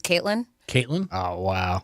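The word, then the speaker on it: KVIIILyn: v i i i okay Lyn so it's pronounced Caitlyn Caitlyn oh wow right wow it's different I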